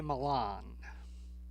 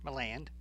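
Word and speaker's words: Milland: Now, our second lead is the great actor Ray Milan or Miland, depending on how you want to pronounce it.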